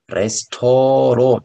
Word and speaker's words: Restaurant: 이렇게 쓰는데, 프랑스어 발음, Restaurant. 조금 오 발음이 나왔죠? Restaurant. 네, 마지막 때는 발음이 안 되니까, Restaurant.